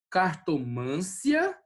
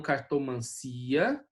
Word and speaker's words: cartomancia: Aqui, cartomância e não cartomancia, né?